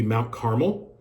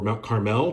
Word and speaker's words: Carmel: Um another place we will go uh pretty early in the trip will be Mount Carmel or Mount Carmel, depending on who you talk to and how you pronounce it.